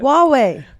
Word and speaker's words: Huawei: Huawei, how do you pronounce it? Huawei.